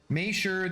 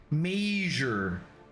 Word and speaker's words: measure: Maysure, the awful way you pronounce measure? Maysure. It's not the same thing. Measure. Take a measurement.